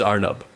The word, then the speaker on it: Arnab: This might seem blasphemous to my Bengali friends, but I prefer like the pronunciation I prefer is Arnab. Sure. Right? Which is a Hindiized version.